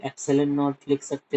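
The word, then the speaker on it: epsilon: ठीक है, ये जो सिंबल है ना इसको कैसे प्रोनाउंस करोगे, एप्सिलन।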